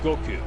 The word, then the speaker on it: Goku: Goku. Oh god, all of these gentlemen. Goku. Son Goku de. Goku. It's not like a K-E-W.